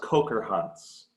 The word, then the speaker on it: Kocherhans: correct you were close pretty close it's actually pronounced coker hunts okay oh very sounds German I'm German so